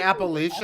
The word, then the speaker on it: Appalachian: no you're just apple did you say appalachian i'll throw an apple atcha that's how you do it oh okay cool i